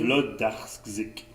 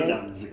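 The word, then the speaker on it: Włodarczyk: On prononce comme un V. Hein? Oh, Ouais, comme on dit pas wa, on dit va. alors c'est... Vlodarczyk. OK. Alors, Isabelle Vlodarczyk.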